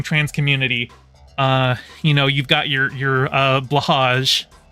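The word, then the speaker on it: Blåhaj: You've got your blahage. I know it's pronounced blowhigh, but I prefer the blahage.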